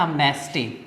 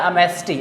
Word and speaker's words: amnesty: उसके लिए एक वर्ड आता है एमनेस्टी, AMNESTY, एमनेस्टी। वैसे इसका सही प्रोनाउंसिएशन वैसे होता है अमेस्टी। एमएसटी मतलब इसमें जो एन है वो एक साइलेंट होता है, इसको हिंदी में कहते हैं क्षमादान।